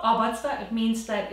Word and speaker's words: Obatzda: So in German, it's called Obatzda. Obatzda. It's Bavarian, and Batz basically means mud or something that's kind of like caked together, and this is essentially the recipe.